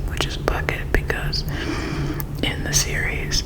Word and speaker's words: Bucket: last name, which is Bucket, because in the series, every time somebody says Mrs. bucket. She is always correcting them and saying bouquet.